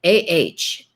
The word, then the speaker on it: anime: It's Anime, Ahkneemay is the way to pronounce it, but obviously spelled Anime.